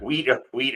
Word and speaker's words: wheat: Wheat always has an H. Wheat always says no, but pronounce it with the H.